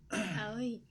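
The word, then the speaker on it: Aoi: Owie. Owie. A-O-I is how you spell it, Owie.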